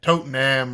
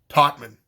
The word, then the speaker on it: Tottenham: been mispronouncing the stadium I think I said Tottenham or something but it's totman like there there's an extra syllable in there that you're not supposed to pronounce but how however you